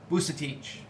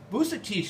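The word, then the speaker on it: Vucetich: Here we see a photograph of a well-known, celebrated criminologist in Argentina, Juan Bucetich. Now, it's a Croatian name that has become pronounced by way of Spanish and Argentine, local Argentine accents.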